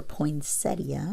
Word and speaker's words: poinsettia: But I might be able to save some of this poinsettia, or poinsettia, which is the way it's supposed to be pronounced, and cut it here.